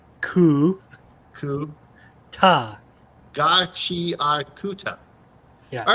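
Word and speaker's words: Gachiakuta: ga, chi, kuta.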